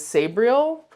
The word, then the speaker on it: Sabriel: For that one, I decided to go with Garth Nix's Sabriel, or in the audiobook, the narrator says Sabriel, but to me, it's Sabriel. I don't know. That's how I would pronounce it.